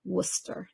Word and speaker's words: Worcester: I believe the name of that town is pronounced Worcester did I do it okay that is proper